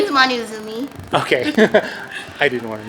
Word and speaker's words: Manou Azumi: the artist for Vixen, but My name is Manou Azumi. Okay, I didn't want to mispronounce.